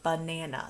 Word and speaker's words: banana: long it's a banana so think about that when we say uh nana but banana is spelled b-a-n-a-n-a so it's but it's banana so when we see our picture card we say banana and then a ah because it's making the uh sound all right let's practice